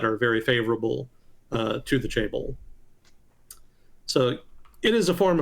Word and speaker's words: chaebol: Chaebol. There we go. So let's do pronounce. Chaebol.